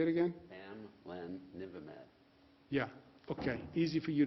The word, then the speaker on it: bamlanivimab: How do you pronounce that, doctor? Say it again? Bamlanivimab.